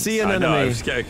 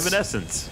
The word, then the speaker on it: Evanescence: You kept saying Evanescence. See an enemy. I knew it was wrong, but I couldn't figure out which syllable had gone awry.